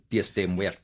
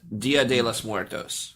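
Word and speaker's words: Día de los Muertos: Dias de Muertos. I was looking it up so I could actually pronounce it correctly. Mi español. It's Dia de los Muertos.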